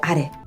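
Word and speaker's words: あれ: 그것, 상대방 쪽에 가까울 때 소래하고 그 다음 멀리 있는 저것 할 때 아래. 해석 많이 틀리시거든요. 이거 잘 구분하시고요. 그 다음 제가 발음한 것처럼 고래, 소래, 아래는 뒤가 높고요.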